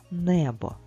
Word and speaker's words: небо: буде падати наголос А якщо ми поділимо слово небо на склади не бо ми визначимо що наголос падає на перший склад не Давай спробуємо ще разочок